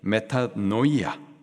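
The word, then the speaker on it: μετάνοια: 회계의 헬라식 발음이 메타노이아 뜻은 마음을 돌이키는 것을 말합니다. 세상을 향하였던 그 마음을 하나님께로 하나님으로부터 멀어졌었던 그 마음을 말씀으로 그 마음을 돌이키는 거 메타노이아 그게 바로 회개인 거예요.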